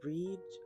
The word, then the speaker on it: Brigid: I think it's Breed or Breed, but I'm not sure.